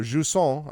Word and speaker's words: Jusant: By the way, the pronunciation was, I believe, Jusant is what I was told. So Jusant, I believe this is